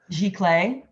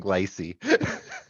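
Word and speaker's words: giclée: i i just learned how that word is pronounced g clay yeah yeah that's spelled g-o-i-c-e-e right yes yes i've been saying lycee um i would also also recommend fine art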